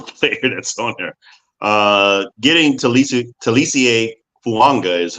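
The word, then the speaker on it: Taliese Fuaga: Getting Talisie Fuanga is how you pronounce his name.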